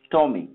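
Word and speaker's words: TomEE: tom ee means dom apache tom ee pronounce tommy is the java enterprise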